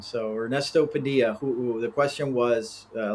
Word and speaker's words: Padilla: So yeah, but yes, in Spanish the two L's make a Y pronunciation. So Ernesto Padilla, who the question was a little background on me Yes, yes.